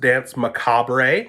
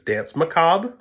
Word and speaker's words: Danse Macabre: to be Danse Macabre it is not pronounced Danse Macabre a it's Danse Macabre and it literally translates